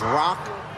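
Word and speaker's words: roku: 6-1 in Japanese that's Rock to inch the number six is rock and the number one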